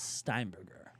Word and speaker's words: Steinberger: Not pro not uh way too many letters and uh pronunciation. That's okay. My last name is Steinberger.